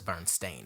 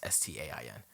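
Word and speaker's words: Berenstain: Every Bernstein Bears book that exists that anyone can find now says Bernstein Bears. It's Stain. Stop lying. Oh God.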